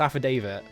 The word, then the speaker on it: affidavit: a word that is it looks like it's supposed to be pronounced aphidy, right? But it's not. It's affidavit.